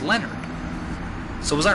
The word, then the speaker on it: Leonhard: That's a, Dezo Penguin said, because I was pronouncing it Leonhard, but Dezo Penguin said that it's actually pronounced Leonard.